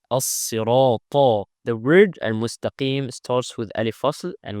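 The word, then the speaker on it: المستقيم: But this lam in this case is applied. And we apply it because the second letter doesn't have a shadda.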